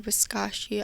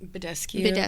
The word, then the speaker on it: Badescu: I wet my sponge or like my beauty blender with Mario Biscaccio. I never say it right. Badescu.